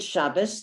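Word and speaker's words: שבת: spoken in eretz israel they are both pronounced like a t so if you see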